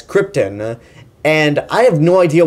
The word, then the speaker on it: Krypton: screen presence and except he can't pronounce Krypton correct Leia throughout the whole movie he keeps pronouncing it as Krypton and I have no